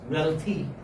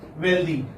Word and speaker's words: wealthy: And okay, many people mispronounce this. They say healthy. They say this da here, healthy, and they say this da there also, wealthy. But this is not this sound. This is this sound, healthy, wealthy.